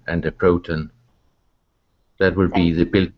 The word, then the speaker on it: proton: word about pronunciation actually with those particular words Neutron proton electron we actually emphasize the on at the end of the word a little bit more yeah Neutron at